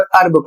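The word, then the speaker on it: herb: यहां पर देखिए एच ई आर वी इसे कहीं पर हर्ब पढ़ा जाता है और कहीं पर अरब पढ़ा जाता है। दोनों की कंडीशन अलग-अलग है। यदि आप अमेरिकन इंग्लिश में पढ़ते हैं तो आपको अरब पढ़ना है और यदि ब्रिटिश इंग्लिश में आप पढ़ते हैं तो आपको हर पढ़ना है जिसका अर्थ होता है जड़ी बूटियां।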